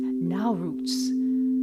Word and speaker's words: Nowruz: calendar, a really cool holiday, I think it's pronounced Nowruz.